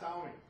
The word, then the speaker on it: Xiaomi: It's Xiaomi.